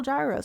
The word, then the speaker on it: gyros: to sell yo or you know, uh what they were trying to sell gyros or yo, which is the proper way. Greek pronunciation.